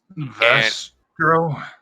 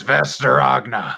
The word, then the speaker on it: Vesterogna: Vestro? I don't know if I said it right. It's Vesterogna.